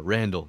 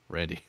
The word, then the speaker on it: Randy: you with the r randall no randy it's not that hard yeah mister so but